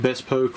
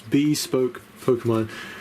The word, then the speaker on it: Bespoke Pokemon: for the longest time by calling you was it best poke or something i think of something like that but it's bespoke pokemon and he also has